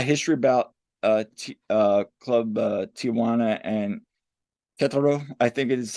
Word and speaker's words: Querétaro: a lot of history about Club Tijuana and Querétaro, I think it is how you pronounce it.